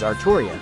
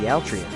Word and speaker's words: Altria: will treasure this name for Japanese people it will be pronounced as artoria but for me it will always be Altria Altria Pendragon yes GH